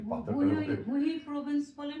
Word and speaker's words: Jujuy: উচ্চারণটা হলো হুই, আর স্পেল করতে গেলে JUJUY। মানে যে স্প্যানিশে এইচ উচ্চারণ হয় ও আচ্ছা মেবি।